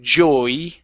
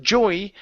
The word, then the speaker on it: Joey: door Joey slams yeah so it almost feels like you're saying Joy but it's Jo so you're adding more of an o sound in there Joe Joey Joey yeah so you're bouncing off of that o a little bit more than Joy okay Joey uhuh Joey